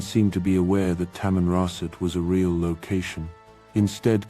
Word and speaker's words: Tamanrasset: This Canadian article also went to the trouble of correcting the British MP's mispronunciation of Tamroset, though it still didn't seem to be aware that Tamanrasset was a real location,